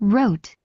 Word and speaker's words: wrote: Again the pronunciation of wrote wrote you the W in this case is silence wrote is not pronounced write writing when you have these verbs in the W you are going to have a silence so you don't have to pronounce it.